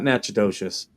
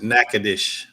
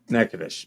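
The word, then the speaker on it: Natchitoches: side uh a town uh n it's not nachid docious uh but it's naous I think nadish okay yeah you pronounce it nacadish nacadish there you go yeah and uh he was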